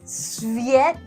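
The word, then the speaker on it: Tsviets: Sephis?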